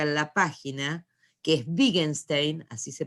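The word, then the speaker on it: Wittgenstein: trabaje yo acá en la página que es big einstein así se pronuncia y el otro no lo trabaje es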